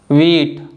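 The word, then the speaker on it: wheat: next one है चच और लास्ट वन है वीट तो इन सभी वर्ड्स में भी जो लेटर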